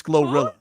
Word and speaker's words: GloRilla: Who is this Glorilla?